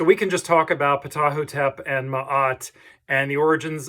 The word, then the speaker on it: Ptahhotep: powerpoint entitled patahotep um that's about the best that i can figure how to say this i am definitely no expert on ancient egypt but this seems to be the rough pronunciation patahotep so that the p is not uh silent um okay so let's